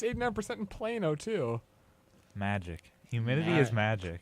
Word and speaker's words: Plano: As far as I know, it is pronounced Plano, Well, okay, but which is very far.